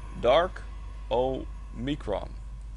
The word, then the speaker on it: Darkomicron: It's pronounced Darkomicron. Isn't that like the way we say it? Yeah, I just kind of string them together, to be honest.